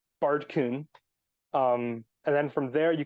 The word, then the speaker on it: Baerdcyn: But it's it's pronounced, for the people wondering, it is pronounced Baerdcyn. The AE was supposed to be one of those like A backwards E diphthong sort of things. But my keyboard at the time just didn't have it. So I was like, oh, okay, AE it is. And then from there, the Y in Old English is pronounced like ew, and ew, that's gross. So it's Baerdcyn.